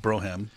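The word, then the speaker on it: Brougham: 98 and it's a Braum now wait wait till you see the interior now that's pronounced Broham yeah right oh oh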